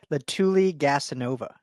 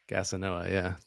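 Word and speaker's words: Letuligasenoa: Tuli Latuli Gasanoa. Oh, that's okay. That sounds easier than Latuli Gasanova. Noah. Gasanoa, yeah.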